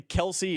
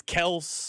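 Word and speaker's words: Kelce: Remember last year at one point, it went from it's not really Kelsey, it's Kells.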